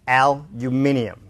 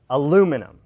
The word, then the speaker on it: aluminium: look at the syllables first three syllables Australian stress one and three aluminium and an American stress two aluminum all right four number